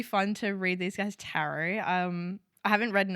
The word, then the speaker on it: tarot: Also, it's pronounced tarot. Okay. Carrot. Like carrot.